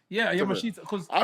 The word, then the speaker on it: Yamashita: Yeah, Yamashita. Because I pronounce it Yamashita.